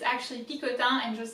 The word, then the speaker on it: Picotin: know that in english i think that you pronounce that picatin or something of that sort uh but in french it's actually pikotan and just like bulid it does mean something